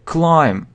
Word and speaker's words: climb: Climb. Забраться. Значит, соответственно, he climbed. Там он забрался. He climbed up. Забрался. He climbed up. Climb. Забираться. Соответственно, B isn't pronounced. B не произносится.